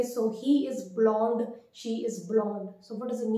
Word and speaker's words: blond: The word is blond, blond.